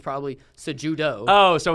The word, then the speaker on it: Cejudo: do you pronounce this, I'd say Henry Cejudo, because he's a Spanish last name. But technically speaking, the guy's born in America. He's American. It's probably Cejudo.